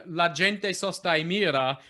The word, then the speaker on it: gente: la gente sostai mira with stress on jay great it's hard to do musically because of the little yeah because there's the little embellishment on the second syllable of gente so a lot of people say la gente mira but you you managed to say la jen by making the embellishment lighter than the gen great fantastic good good